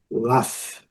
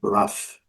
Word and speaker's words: laugh: No mesmo ritmo, GH com som de F.